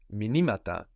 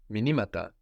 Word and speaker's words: μηνύματα: So the accent moves. Minima, minimata. The stress moves.